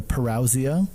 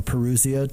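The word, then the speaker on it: parousia: One is that we are moving towards the what's also called important term in this discussion what's called the parausia or peruseia people pronounce it differently but it means arrival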